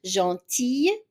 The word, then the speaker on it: gentille: We have masculine, gentille. So even the L, we pronounce it as a Y, gentille. So masculine, gentil, female, gentille. So again, it is a Y at the end.